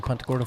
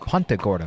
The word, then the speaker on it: Punta Gorda: court at that moment beautiful sunset here in punta corto florida now it's nice i'm not squinting anymore